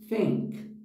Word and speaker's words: than: ela tem um h então você não pode dizer em inglês than porque do contrário diria algo como tanque então Aqui nós temos a presença do h e a pronúncia dessa palavra sua como than agora outro detalhe muito interessante